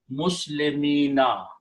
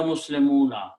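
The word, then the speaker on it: مسلمين: And now you have to pronounce, this will become, in order to pronounce this ya, meme has to have a kasra, muslimina. No more muslimuna, muslimina.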